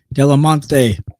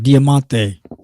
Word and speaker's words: Diamante: we go with David damante damante sorry I just keep pronouncing his name wrong Diamante way attraction set to